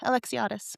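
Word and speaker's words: Alexiades: Reese Alexiadis. Is that how you say it? Yeah, Alexiadis. Oh, I said Alexa da da da because I couldn't figure out how to spell it.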